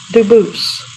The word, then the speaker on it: Dubus: They do pronounce it dubus, but you said you pronounce it dubus as the original dubus as the original French. Yep. Very well. Duboose.